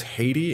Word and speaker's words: Haiti: Somebody corrected me in another video that I should pronounce this as Haiti in English. I I wonder how the locals pronounce it cuz we pronounced as uh Hayiti.